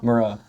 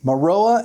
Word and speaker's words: Maroa: It's tough because we are in how do you pronounce it? Maroa. Maroa. I was right. Maroa.